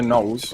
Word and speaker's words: Knowles: So Hector Knowles, or Hectic, because you know, with the K. I don't know why, but my surname's spelled with a silent K.